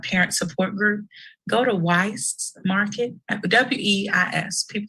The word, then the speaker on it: Weis: Parents, since this is the parent support group, go to Weiss Market, WEIS. People say Weiss, people say Weiss. It doesn't matter. My mother pronounces it Wise.